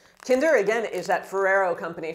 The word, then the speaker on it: Kinder: the kinder chocolate so in french the brand kinder is pronounced kinder kinder again is that ferrero